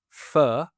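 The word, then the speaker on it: pho: Manchester's Northern Quarter uh called Fur, right? P H O, right? Uh, and Fur Q. Uh, as in u F FQ and uh you you have to know how to pronounce it in order to get it.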